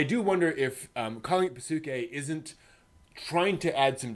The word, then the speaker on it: Psyche: Not Psyche. Pasuke.